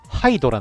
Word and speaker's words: Hydra: あれなんで、英語の発音だと、ハイドラなんですよ。